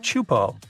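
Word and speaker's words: Teahupoʻo: all the name itself is a mouthful is pronounced chupo and it means broken skulls in tahan yeah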